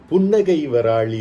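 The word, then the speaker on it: Punnagavarali: so we see this punnaga varali ragam is sometimes pronounced as punnagay varali ragam evoking smiles nagai means laughter pun is a subtle laughter which means a smile so it evokes not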